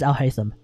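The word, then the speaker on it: Alhaitham: Apparently the correct pronunciation actually is Al-Haytham. So when all of the characters are calling him Al-Haytham, it actually is meant to be Al-Haytham. I thought it was Al-Haytham. I legit thought it was Al-Haytham the entire time, because at that point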